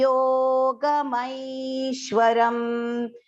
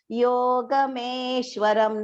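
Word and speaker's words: योगमैश्वरम्: Here the mai has to be, the ma is joined with the I vowel sound. So it has, an I is long pronunciation. So please do not recite it as yogameshwaram. No, it is yogamaishwaram.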